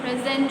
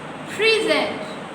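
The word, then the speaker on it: present: Spellings are same, लेकिन जब हम सिलेबल पर स्ट्रेस करते हैं और डिफरेंट साउंड देते हैं तो उसका मीनिंग भी डिफरेंट हो जाता है.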